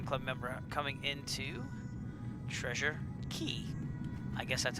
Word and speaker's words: Cay: But this is our last Virtual USA Flying Club member coming into Treasure Cay. I guess that's how you pronounce it. I thought it was K, but people corrected me and said Key.